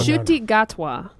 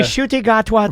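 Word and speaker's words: Ncuti Gatwa: Shuti Gatwa is the new Doctor Who. And Yeah. a shooty gatwa to you.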